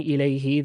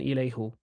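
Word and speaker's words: إليه: That's just they they just preferred saying ilayhi than ilayhu.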